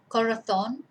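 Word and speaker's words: corazón: to refer to someone so that's where our stress is on the last syllable uh and as i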